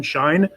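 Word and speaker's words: Saein: It's spelled S-A-E-I-N, Shine.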